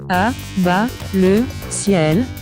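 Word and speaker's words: À Bas le Ciel: À-bas-le-ciel. That's how you pronounce his YouTube name, but his actual name is Eisel Mazard.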